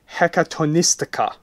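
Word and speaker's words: Hekatonystika: Scions of the Hexagrammaton and Scions of the Hecatonistica. Did I say that right? I think you said that right. That's pretty good pronunciation.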